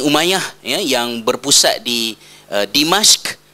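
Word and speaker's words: دمشق: Bani Umayyah, ya, yang berpusat di Dimashq, ataupun orang Melayu telah tersalah menyebut ejaan Arab kepada Jawinya jadi Damsyik, ya, dal mim shin qaf, ya, sebutannya ialah Dimashq.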